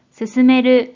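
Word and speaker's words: 進める: 됩니다 자 연차 뜻으로는 또는 스스메르 스스메르 한편으로는 신 신이라고 각각 발음해줘요 대표적인 음도 거의부터 소개해 볼게요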